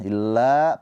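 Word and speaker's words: إِلَّا: Nah, illa panjang juga 2 harokat la-nya karena ada alif di sini.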